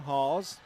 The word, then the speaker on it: Hawes: Rebound, Hawes. That's spelled Haws, like pause.